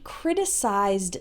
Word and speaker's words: criticize: So you might say, she criticized the restaurant. Her main criticism was about the poor quality of the food. Note the pronunciation difference between criticize, it ends with the eyes sound like in size, and criticism, it has